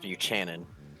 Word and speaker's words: Buchanan: It's pronounced Buchanan.